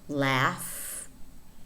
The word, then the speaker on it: laugh: For example, ghost, in which the H is silent, or laugh, enough. In other words, GH is normally pronounced f.